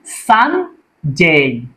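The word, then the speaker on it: Sunday: সঠিক উচ্চারণটা কি হবে? সানডে।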